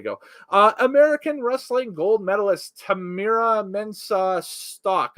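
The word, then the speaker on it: Tamyra Mensah-Stock: American wrestling gold medalist Tamira Mensah Stock, I believe is the pronunciation for her name, and Gable Steveson are introduced.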